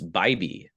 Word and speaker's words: Bibee: It's Bibee.